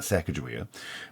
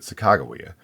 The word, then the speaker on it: Sacagawea: And it's McMurtry's I understand that the proper way to say the name, although I could be wrong, it's not Sacagawea, but Sacagawea. And it's Sacagawea's nickname.